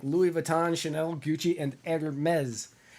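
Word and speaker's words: Hermès: They carry the hottest brands like Louis Vuitton, Chanel, Gucci, and Hermes. Hermes, which is not spelled like Hermes, it's spelled like Hermes.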